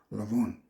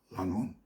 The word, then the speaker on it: Lanvin: at the House of Lanvin. That's Alanvin. Pronounce it like a French word, not like an English word.